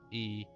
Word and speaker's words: Ea: When the vibration of vocal folds was still required to convey our thoughts and intention, E, I believe, was the pronunciation used when referring to our people.